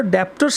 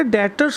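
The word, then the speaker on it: debtors: डेटर्स commerce के student और डेप्टर्स का भी प्रोनाउंस करना ना मत करना, कॉमर्स का बच्चा जब डेप्टर बोलता था बड़ी बेइज्जती से, बड़ा बेकार सा लगता है। बेटा डेटर्स होता है जिस पर्सन को हमने उधार माल बेचा।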